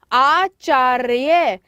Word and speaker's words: आचार्य: उच्चारण कर रहे हैं आचार्य, तो र की ध्वनि पहले आ रही है, इसलिए इसका जब